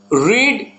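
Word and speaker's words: read: जैसे कि first form का उच्चारण है रीड, सेकेंड फॉर्म का उच्चारण होगा रेड, थर्ड फॉर्म का उच्चारण होगा रेड। रीड, रेड, रेड, उसका स्पेलिंग सेम रहेगा।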